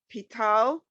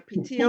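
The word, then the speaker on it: פתיל: Pital. No, Pitil.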